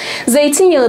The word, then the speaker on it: zeytinyağı: bunu bilerek yapmıyorum zaten Siz de telaffuz edin lütfen zeytinyağı derken zeytin daha vurguluyor yani vurgu ne oluyor 2'den 1'e geçiyor burgu ikiden bire geçti içinde direkt birleşmiş oluyor